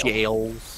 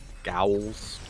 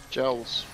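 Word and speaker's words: Gaols: It's pronounced Jails. Jails. There you go. Gowls. Nope. Jails.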